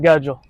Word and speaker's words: Gudgel: You pronounce it Gudgel.